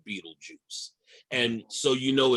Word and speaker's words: Betelgeuse: So in the hunter's shoulder, there's a star called Betelgeuse. It looks like Betelgeuse, but it is pronounced Betelgeuse, I'm told.